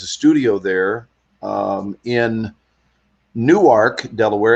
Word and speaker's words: Newark: studio there um in Newark Delaware it looks like Newark but it's pronounced new ark new ark okay and